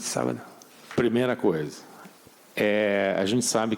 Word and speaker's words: sábado: And I just wanted to return the favor by saying, Boa sorte no sobaio. Did I say it correctly? Boa sorte, sábado.